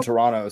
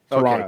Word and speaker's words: Toronto: You just don't pronounce the last T. Toronto. Toronto.